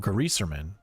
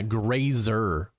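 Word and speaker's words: Greyserman: Or as Byron likes to call him, Gaserman. Other people like to call him, Graser. Or wait, yeah, grazer like laser. Probably it's probably the correct way to say his name, though.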